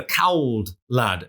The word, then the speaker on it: Cauld Lad: You were calling it the Cauld Lad there, but I mean, to be real proper Geordies, we should pronounce this as the Cauld Lad, shouldn't we?